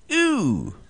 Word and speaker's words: ew: All right, the 2-letter expression of disgust, pronounced ew, spelled E-W.